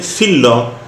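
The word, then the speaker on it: φύλλο: A leaf in Greek is philo. So I have written philo in Greek, and I have written philo the correct way as you should pronounce it in English. So I will not mention anything wrong. I'm just telling you the correct word for leaf, which is philo, and it is pronounced like that.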